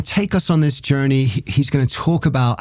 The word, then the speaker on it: JRNY: And I also want to give a shout out to Journey magazine. That's spelled JRNY.